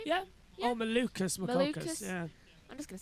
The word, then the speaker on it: Malukas: Right, All right, Will, this is after Connor Daly, 4th is O'Ward, 5th McLaughlin, 6th is McCulcus. Is that how you say his name? Yeah. Oh, Malukas.